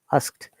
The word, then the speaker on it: asked: i've heard it some some people pronounce it ask it that is quite wrong pronunciation remember it is only mono syllable or single syllable ask asks asked though that is d sounds like t but it is the way it should be pronounced and for any sound